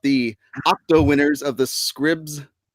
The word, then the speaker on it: Scripps: It's Scripps Spelling Bee, isn't it? Not Scribs? It is Scripps, yeah.